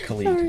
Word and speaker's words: Khalid: guy you're being so cringey sorry yes i'm pronouncing it right it's colleen yeah i'm sorry and what about the young